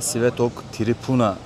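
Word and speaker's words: Svetog Tripuna: Bu görmüş olduğunuz katedral Trapon katedrali yani katedrale Sivetok Tripuna diye burada ismi telaffuz ediliyor.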